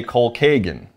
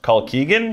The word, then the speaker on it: Colkegan: was on the list now my question is if his name is colin keegan you always say cole kagan yeah shouldn't it be pronounced call keegan i don't actually know i just say call keegan because that's what sounds good to me i think it's called